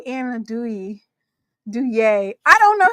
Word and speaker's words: andouille: And girl, it ain't no damn Anadouille. It's andouille.